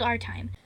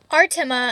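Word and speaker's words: Artimé: He and a few hundred other people live in a magical land called Artime. Artima, I mean, because of that little accent on the E, where they stay in a giant magical mansion with about 20 or 30 living statues.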